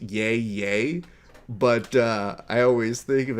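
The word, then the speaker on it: Yahya: When you spell it out like that, I know it's supposed to be spelled out and pronounced yay yay, but I always think of it as Ice Cube doing yay yay.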